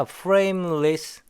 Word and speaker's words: frameless: frameless S 발음요. 무성음 처리해야죠. frameless 그 다음에 has와 on이 붙어서 has on 이렇게 붙어죠.